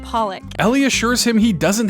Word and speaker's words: Pollock: you know I really like uh that jackon polock it's pronounced Pollock Ellie assures him he doesn't have to try